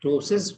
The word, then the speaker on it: ptosis: So people in ptosis, P is not pronounced, but in nephroptosis, you can also pronounce it as nephroptosis.